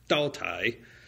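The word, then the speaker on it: Daotai: Fortune spells that T a U t ae. I had the damnedest time trying to find out what is that and what is the pinion equivalent so that I could pronounce it correctly.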